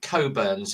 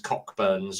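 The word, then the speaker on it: Cockburn's: Um, and it's uh they pronounce it coburns, even though it says cockburns on the uh on the bottle, but yeah.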